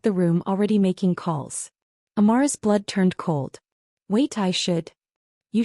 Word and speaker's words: Amara: Amara. He pronounced it perfectly, the Korean way, Amare, with equal stress on each syllable.